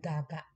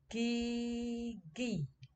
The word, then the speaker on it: gigi: In Indonesia we don't pronoun gaga. Okay, it's wrong pronunciation. Okay, the another is the meaning is teeth. Yes. Okay, teeth. So in Indonesia is gigi. Is okay, right? This is the right letter, the right sound.